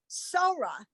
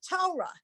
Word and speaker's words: Torah: An older congregant will be reading something and will say something about Sorah instead of Torah, because the word it gets written out without the dot.